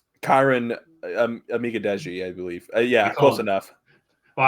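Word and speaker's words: Kiran Amegadjie: But ended up going with Karen Megadije. Did I pronounce that correctly? Kyron Amigadeji, I believe.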